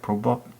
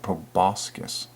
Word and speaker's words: proboscis: to Jesus just like probe up proboscis excuse me I wasn't even saying it right proboscis pull boss oh wait